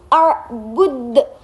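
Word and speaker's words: أعبد: Dan yang terakhir itu ada arbud. Nah, di situ kan ada huruf qalqalah yaitu berupa dal di akhir kalimat, jadi dibacanya qalqalah kubro. Arbud harus dipantulkan.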